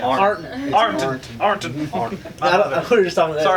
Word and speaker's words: Ironton: And as soon as I got old enough, unfortunately, around me in Ironton, we had a comic store for like 5 minutes. You pronounced it wrong. Yeah. Arnton.